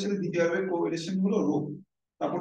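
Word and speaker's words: ρ: রো বাংলাতে রয়কার রো উচ্চারণ হচ্ছে রো পি না এটা হচ্ছে পি।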